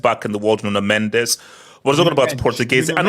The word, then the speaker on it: Mendes: And also, guys, Bro, it's Mendes. I don't know where you're freaking on about, bro. I I You say, you know, No, it's Mendes. That's how you say in Portuguese. It's not mench or munch or mundish.